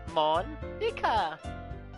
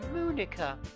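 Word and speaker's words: Monika: Monica. That's not how you say my name at all. It's Moonica, like a cow.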